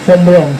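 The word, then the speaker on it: Braun: También dice el Bom Brown, Bomb Brom es, sí, se pronuncia Bron.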